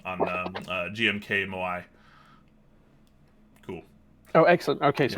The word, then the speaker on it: Moai: Draxtar is saying we got the correct pronunciation on GMK Moai.